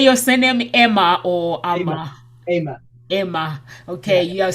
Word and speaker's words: Amer: out uh how do you say your surname emma or okay you're saying i am emma and i'm creating this this is the opportunity